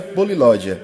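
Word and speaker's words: πολυλογία: O vocábulo-chave aí é polilogia, que se pronuncia polilódia e se traduz da seguinte maneira: poli quer dizer muito, bastante, em grande número.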